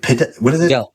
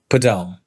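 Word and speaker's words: Padel: Pel Podell.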